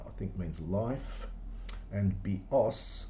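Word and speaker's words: βιός: Bios with the accent on the iota, I think means life, and bios with the accent on the last syllable means a bow, as in like a bow and arrow.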